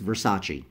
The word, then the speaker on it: Versace: faint blue it says Versace with the Medusa head and yes that's how you pronounce it it's Versace not vers ace I heard someone say